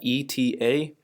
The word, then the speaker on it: eta: The symbol here is eta, E-T-A. You pronounce it's kind of like theta, but eta.